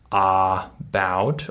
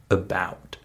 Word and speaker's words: about: for English Learners right in the word about that first syllable is unstressed right I'm saying I'm not saying a about or a about or a about I'm saying about if you hear that